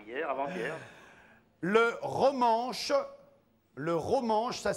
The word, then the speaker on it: romanche: oui oui c'était hier avanth le ranche le romangeche ça s'écrit r o m a n C H e oui le romangeche est depuis 1938 oui l'une des langues officielles